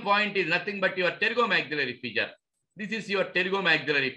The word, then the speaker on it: pterygomaxillary: PTM is nothing but pterygomaxillary fissure. Pterygomaxillary fissure. PTM, point pterygomaxillary fissure. P is silent.